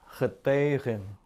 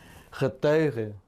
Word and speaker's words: getuigen: Biasanya kalimat atau kata-kata ini yang berakhiran en atau en terakhir diucapkannya dengan bunyi yang lemah, hampir nyaris tidak terdengar sebenarnya. Ya, getuige, getuige, berechte, berechte, ya, pleiten, pleiten. Bunyi N-nya hampir tidak terdengar.